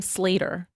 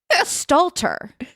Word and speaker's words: Stalter: You pronounce her last name Slater, correct? Yeah. Megan Slater. Wait, Meg Slater? Is that wrong? Sorry, I'm actually having eight strokes today. Stalter.